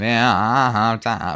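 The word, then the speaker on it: ואהבת: Ve'ahavta, right? Mm-hmm. The accent is right there on the last syllable, and that is correct, even though it normally sounds wrong.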